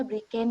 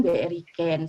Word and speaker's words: BriCane: Laila sekali lagi Brigjen ini dibacanya Brigjen ya sahabat-sahabat bukan BRI Ken tidak sponsorship tapi tidak